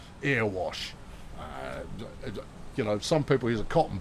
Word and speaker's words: Erewash: How everybody else pronounces it is wrong. Erewash.